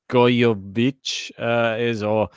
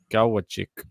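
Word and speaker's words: Gojowczyk: The winner of Laaksonen and Gojovic I swear I've been pronouncing it wrong the whole time. I think it's Gawachik, something like this.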